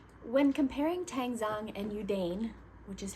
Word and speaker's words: Yudane: When comparing tangang and udane which is how I pronounce it they're the same process the process